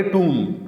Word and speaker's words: tomb: اس کو لکھا جاتا ہے TOMB، ٹومب، لیکن اس کو پڑھیں گے ٹوم. ٹومب آخر میں بی کی آواز اور اس طرح لمبا کر کے نہیں، ٹوم.